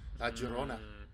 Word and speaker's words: La Llorona: Llorona. There you go. That's the true pronunciation. La Llorona.